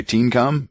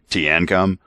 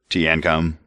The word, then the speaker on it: Teancum: the next one okay remember I was calling this guy teencum apparently I was wrong it's t andc yeah that's what it is so I I it's three syllables so yeah it's some type of mixed drink he's named after te and yeah it's probably actually teancum but that's yeah we can say it either way tanom yeah whatever tnom